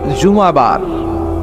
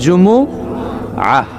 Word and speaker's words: জুমুআহ: অনেকে বলে ফেলে জুমা, জুমা। আসলে আরবিতে শুদ্ধ উচ্চারণটা হচ্ছে জুমুআহ, সূরাতুল জুমুআহ।